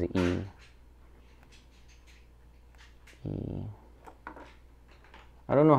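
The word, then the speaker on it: 이: one II my name my last name is e by the way in English they say Li because we spell like this but actually the pronunciation is e I don't know how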